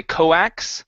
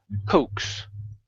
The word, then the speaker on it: coax: is the word coax the a is not pronounced we don't say coax it's Coes Coes okay very good uh